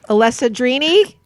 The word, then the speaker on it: Alessandrini: Broadway's smash-hit Tony award-winning Gerard and I'm gonna pronounce it wrong Alessa dreamy no that's right ah they're easy to pronounce